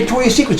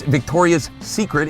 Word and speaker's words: Victoria's Secret: Victoria's Secret's, of course it's lace. You should know how to pronounce the name. It's Victoria's Secret. It's not Victoria's Secrets.